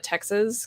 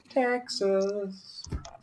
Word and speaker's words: Texas: me it is just texas so my necklaces always tell if someone's from texas because that final syllable the s will actually sound more like a z that's true that's true